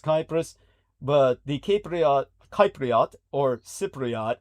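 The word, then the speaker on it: Κύπρος: As in the Greek, it's pronounced Kypros, but the Cypriot, or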